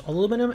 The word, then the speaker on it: aluminum: Well, there are two ways to say it. There's aluminum and then there's aluminium. And both are considered correct. And yes, they are considered correct.